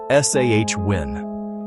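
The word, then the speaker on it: Samhain: This festival was called Sam Hine, pronounced SH Win. It happened around the end of October. Sam Hine was a time of great change.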